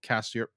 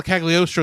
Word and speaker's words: Cagliostro: animation style from Lupin the Third, Castle of Castiel. How do you pronounce it? Well, Castle Cagliostro is what you're trying to say, Yes.